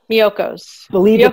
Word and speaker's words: Miyoko's: attendees, I just put the how do you pronounce it? Miyoko's? Miyoko's.